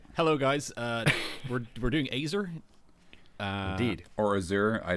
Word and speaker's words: Azer: a second what does what does the internet say to how to pronounce it that's okay oh it's azer okay Wikipedia oh yeah you're